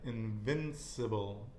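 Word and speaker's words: invencible: think about that again invincible and remember you and i are both going to practice our bees yeah because when you pronounce the v it's actually like a b so it's one okay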